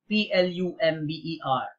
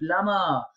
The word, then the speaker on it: plumber: easily been the number one in our list PLU MB er well it shouldn't be Lama should it be